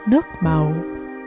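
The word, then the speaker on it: nước màu: make the caramelized sugar this in vietnamese is pronounced nukmo it directly translates to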